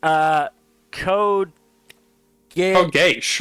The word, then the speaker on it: Code Geass: Code Geass, obviously.